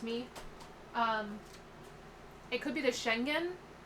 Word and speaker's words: Schengen: It could be the Schengen. I don't know if that G is like a hard G where it's like a J, like a J sound, or if it's a G sound.